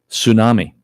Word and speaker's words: tsunami: Tsunami. T is silent.